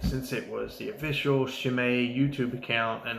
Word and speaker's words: Chimay: it was the official shimei YouTube account and not just some snotty guy trying to have like he's printing a proper on YouTube I decided that was the official pronunciation Chimay they're from Belgium I